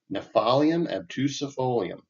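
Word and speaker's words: Gnaphalium obtusifolium: It is Nephalium obtusifolium. I'm going to go with that as a pronunciation. It's Gnaphalium. So Nephalium obtusifolium.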